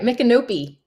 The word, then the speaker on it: Micanopy: Micanopy. Am I saying that correctly? That's right, Micanopy. Micanopy. Sorry, I have never been there, and I at least didn't totally butcher the name.